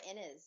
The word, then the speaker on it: Innes: It's Laura Innes. Is that how you pronounce her name?